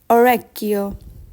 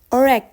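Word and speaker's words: orecchio: next one is ear orio ear orio repeat after me and focus on the pron pronunciation please Oro please see the difference between OKO and Oro Okio is eye and orio is ear now let's move on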